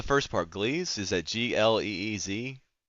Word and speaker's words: Gliese: Is that Gleez? It's spelled Gliese.